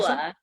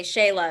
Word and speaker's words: Sheila: Sheila. Some Sheila. people I know that you'd like people, say Shayla as well, but that's okay. that it's written Sheila, but the pronunciation is Sheila, and she's from the